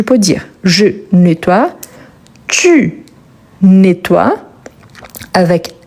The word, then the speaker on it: nettoies: Donc, je peux dire je nettoie, tu nettoies, avec S à la fin. Les E n'a pas d'accent, il est muet, par conséquent le S également.